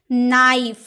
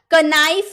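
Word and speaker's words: knife: के letter silent N से पूर्व आया के साइलेंट रहता है। अगर एन से पहले के रहे क्या मैंने बोला एन से पहले के रहे तो के साइलेंट रहता है। जैसे नाइफ। एन से पहले है ना के। एन से पहले है के। इसीलिए इसका कनाइफ नहीं बोलेंगे।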